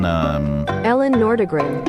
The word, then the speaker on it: Nordegren: The band at Tiger Woods' wedding with Ellen, how do you pronounce her name? Ellen Nordegren.